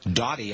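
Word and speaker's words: Daughty: of the daily Reckoning Richard doy uh doy I think his name is d a u g HT y I think that's how pronounce it he said he thought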